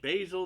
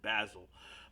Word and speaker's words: Basil: church known as Saint Basil the Great. Some would pronounce it Basil, but basil, like the basil leaf.